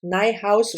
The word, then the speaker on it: Niehaus: Beloved Beasts by Michelle Niehaus. Niehaus rhymes with my house is her handle on um social media and this book was published like I said something's never change.